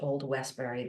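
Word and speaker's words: Old Westbury: old Westberry this fall I'm sure I butchered that I'm sure there's a New York way of pronouncing that but welcome Byron HT thank you so much and though you did not butcher it it was it was perfect it was perfect okay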